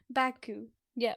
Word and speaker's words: Baku: It's only two syllables. Baku. Yeah.